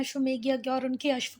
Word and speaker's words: अश्वमेध: Celebrate करने के लिए अश्वमेधा यज्ञ, जैसे आप चाहते हो वैसे पढ़ दिया है ना। कुछ बच्चे ऐसे कमेंट करते हैं, मैडम मैडम आपका प्रोनाउंसिएशन गलत है, पर वो है अश्वमेध यज्ञ।